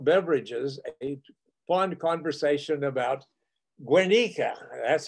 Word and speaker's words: Guernica: He and I developed over adult beverages a fond conversation about Guernica. That's how he tells me I should pronounce it, the town in northern Spain that Hitler and Franco decided to practice bombing raids on.